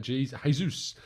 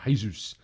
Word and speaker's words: Jesus: morning to you tom that jesus uh is pronounced the portuguese way not jesus jesus uh in the spanish way thank you paul you